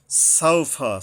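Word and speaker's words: سَوْفَ: সাউফা, সা, সিন উচ্চারণে সাবধান হতে হবে।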